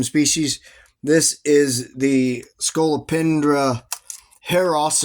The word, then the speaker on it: heros: This is the Scolopendra Heros is the actual Latin pronunciation, but most people say heroes.